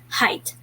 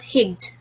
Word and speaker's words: height: and this is read differently so though the pronunciation of the word is height not higt okay all right last break knowledge knowledge knowledge